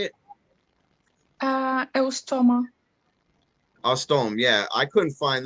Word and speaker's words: Eustoma: I can't pronounce the first one. How do you say it? Eustoma.